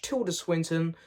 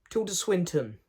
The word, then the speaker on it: Tilda Swinton: stars Mr Benedict Cumberbatch Tour de Swinton and Rachel McAdams Tilda Swinton I think I said it wrong when I just done